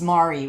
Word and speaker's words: Mari: So she tells the detective and the bad guy when she first meets them both, it's Mari, rhymes with sorry, which you're going to be if you mispronounce my name one more time.